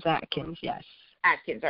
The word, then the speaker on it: Atkins: Or is it Atkins or Akins? How do you say that? It is Atkins, yes.